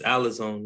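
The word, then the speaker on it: ἀλαζών: It's alazone is what it is. They pronounce it as, it's a vagabond is the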